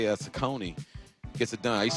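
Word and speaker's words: Cecconi: Sakone.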